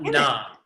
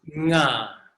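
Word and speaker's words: ङ: It's not na. It's nga. Na. Nga. Can y'all hear the difference when I say it? Hang on. I'm gonna say it correctly. I'm gonna say it incorrectly. Nga. Can y'all hear the difference? Yes or no? It glitched. It glitched. Let's try again. Correct is nga. Incorrect is na.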